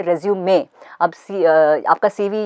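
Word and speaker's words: résumé: अभी knife, KNIFE, उसमें knife silent है, लेकिन रेज्यूमे में ई, इट्स a French word, so since it's a French word, E pronounce किया जाता है.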